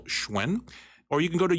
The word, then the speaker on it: Hsuen: to search for that and that's how you pronounce and spell schwen or you can go to YouTube live and Twitch TV and search schwen March 6 on any of those platforms and